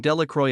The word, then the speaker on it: Delacroix: and Harry Jones and Dicky delacroy the villagers pronounced this name Delroy eventually made a great